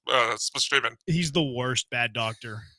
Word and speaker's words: Spaceman: Space Dr. Spaceman, but they pronounced Spashimon.